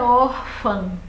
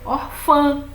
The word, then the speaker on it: órfã: em cima do ar ele vai fazer qualquer a força venha para a última sílaba e aí você vai ter que dizer órfã como irmã que termina do mesmo jeito a palavra irmã termina com e a palavra órfã com a e um tio mas só que irmã é oxítona não mas órfã é paroxítona ó a sílaba tônica